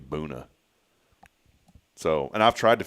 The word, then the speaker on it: Buna: Am I pronouncing that right? Boona? I think How so. else would you say it? Buna? But it can't be Buna. It's got to be Boona.